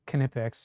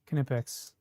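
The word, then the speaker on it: Knipex: Just learned this morning that the K is pronounced. It really is Kipex. Yeah, Kipex.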